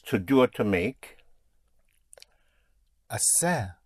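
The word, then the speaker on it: hacer: Asser. Assayer. H A C E R.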